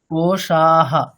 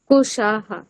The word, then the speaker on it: कोशाः: পঞ্চবায়ুঃ वायुः न वा सप्तधातुर्न वा धातुर्न वा पञ्चकोशा न वा এখানেও তাই ম্যাডাম, কোশাহ कोशाः न वा पाणिपादं न